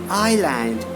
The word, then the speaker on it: island: following words the later s is not pronounced before L in the following words see here this is